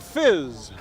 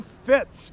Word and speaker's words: FIZ: munich now kate we're at the fizz no it's the fits it's the fit it's spelled fizz well whatever it is